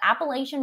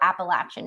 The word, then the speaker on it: Appalachian: is set in the foothills of the Appalachian Mountains or Appalachian Mountains depending on how you pronounce it that's personal preference I believe Sydney do